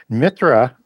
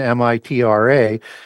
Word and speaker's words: Mithra: Mitra in Proto-Indo-European, Mitra, is that H is silent and isn't there in the more ancient form of the language.